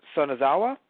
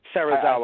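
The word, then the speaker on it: Serizawa: And what's interesting too is that even though we had a little bit of discussion by Sanazawa or Sazawa. Sarazawa, yeah. Sarazawa. I said it wrong earlier.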